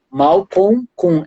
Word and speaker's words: Malcolm: dele é Malcom gladwell mal com l m no final Malcolm sem falando pronunciando assim Malcom gladwell cladwell com ué